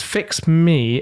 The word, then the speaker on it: fixmie: It's called, it's Fix Me. It's spelled Fixmie.